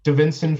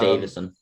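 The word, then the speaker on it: Deiveson: Davinson Figueroa. It's just Davison.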